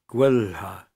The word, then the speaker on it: gwelha: LH is pronounced as two distinct consonants. Example, gwelha, best.